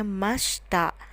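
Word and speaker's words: ました: pas positif diakhiri dengan kata mechta tulisannya Masyita tapi dibacanya Masta Sama halnya dengan present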